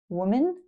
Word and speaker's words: woman: Well, w like wood, woman.